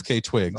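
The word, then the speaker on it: FKA twigs: FK Twigs. Like an initial. That's how they say it. Like I even looked up the Fuck Twigs.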